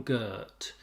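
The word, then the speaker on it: Göth: In this case, Ruth Calder and Amon Gert. That's the pronunciation I'm going with. Amon, ironically for an SS commandant, is actually a Hebrew or Yiddish name, I think. Gert with the umlaut above the O.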